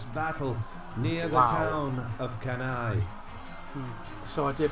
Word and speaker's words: Cannae: like an enormous battle near the town of kenai so i did pronounce it right i'm happy to say that